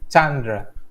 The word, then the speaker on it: Chandra: So, okay, so actually my name pronoun was Chandra. Chandra. Chandra. Yeah. Okay. Chandra. Yeah. All right, I'll remember that for next time. Chandra. So it's an emphasis on the first syllable.